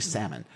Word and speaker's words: Salmon: who names their kid it's basically salmon who names their kids salmon i i'm pretty sure it's pronounced solomon solomon p chase received many